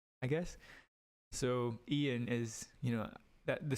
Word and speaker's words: Eoin: way of um naming names I guess so Ian is you know that the spelling's different in